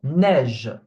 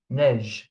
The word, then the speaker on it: neige: Okay, so for example, neige, neige. Again, here I'm not saying neiger or neigeux. The E at the end, I'm not pronouncing it, I'm stopping at the G sound.